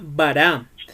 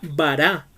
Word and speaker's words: bará: Esa palabra creó es una palabra que en el original es la palabra bará, que se escribe B larga A R A.